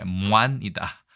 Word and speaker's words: 鏝: 발음은 반절법으로 인해서 모관이니까 무안이다. 발음이 좀 특이하죠. 무안.